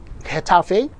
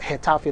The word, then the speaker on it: Getafe: Of course, Navalcarnero will take on Getafe. Yes, it's called Getafe, not Getafe.